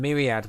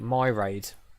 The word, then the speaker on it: Myriad: you'll see in a bit actually used to pronounce this mirrior not call it myriad but used to call it my raid for some reason and I used to do